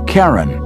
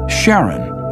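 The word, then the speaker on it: Charon: Christy suggested the name Karen after the Ferman of Pluto's underworld in Greek mythology but preferred to pronounce it Sharon more like his wife's name Charlene from the Motions of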